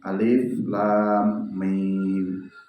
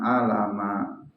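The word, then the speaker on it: الم: Ibu cara membacanya ya dibaca dibunyikan hurufnya alif lam ro jangan a la ro Alif Lam Mim jangan a lama karena itu bukan dibaca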